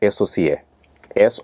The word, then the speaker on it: SOCA: তাদেরকে আমি বলবো যে অনেক সময় নামটা উচ্চারণ করতে কঠিন হয়ে গেলে আপনারা এভাবে উচ্চারণ করবেন এস ও সি এস ও সি এ অনেকেই সকা বলেন বাট সকাটা আমি